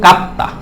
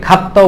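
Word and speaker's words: かった: ছোট সু তা কাত্তা এটাকে অনেকে খাত্তাও বলে থাকে কারণ জাপানিজরা ক এর উচ্চারণটা খর মতো বলে থাকে শুনতে শোনা যায় আর কি এখানে কাত্তা বললে হবে কাত্তা বললেও হবে অমশির কাত্তাদেস মানে হচ্ছে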